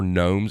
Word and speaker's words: gnome: there's more than four gnomes in this home oh I know you buy them because it rhymes with home and so instead of